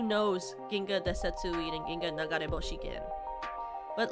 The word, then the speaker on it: Ginga Nagareboshi: It's called Ginga Nagareboshi. Oh my god, I said it right!